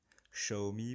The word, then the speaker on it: Xiaomi: présenter la domotique selon xao me xiaomi pour ceux qui veulent prononcé à la chinoise moi je dirais xao me vouvoyer devant moi donc